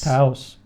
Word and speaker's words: Taos: Taos. Rhymes with house and mouse and spouse.